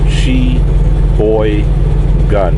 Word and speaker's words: Sheboygan: y g a n she boy gun gun as in G instead of G Wisconsin 53082 all right